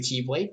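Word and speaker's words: χ-blade: aren't they all called keyblades yes they are this is very confusing it's called keyblade it's pronounced like the rest but it has this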